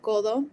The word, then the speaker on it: codo: The C typically in Spanish sounds like a K. So like, as you can see, like codo, it'll sound more like